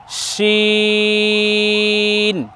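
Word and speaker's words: شين: তবে এখানে খেয়াল রাখতে হবে, এখানে যেন এই বর্ণ উচ্চারণ করার সময় যেন ঠোঁট গোল না হয়। জি, এভাবে বলতে হবে শিন।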